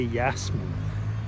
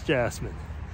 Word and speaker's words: Jasmine: I was almost going to say Yasmin because actually that's how it would be pronounced over here in Switzerland, but it's Jasmine.